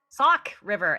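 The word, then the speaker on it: Sauk River: How do you pronounce it? Sock. Sock River.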